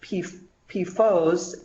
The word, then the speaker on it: PFOS: They have been manufactured and used since the 1940s, and PFOS, pronounced PFOS, and PFOA are the 2 that are most studied and the 2 that you hear the most about.